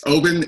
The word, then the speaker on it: Oban: we go Obin 14 I like to pronounce it Oban but we we'll say Oben is fine so go ahead it's it's Oben and it's from the west highland uh part of Scotland it's h by the